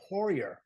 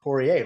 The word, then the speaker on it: Poirier: I am here today with Scot Poirier, or Poirier, right? Depending Either on what way. country you're going to pronounce it in.